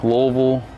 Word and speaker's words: Louisville: So we are at Louisville South KOA Campground.